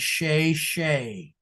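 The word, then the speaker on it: Chezshay: The artist's name is Sha Shay, which is spelled C H E Z S H A Y.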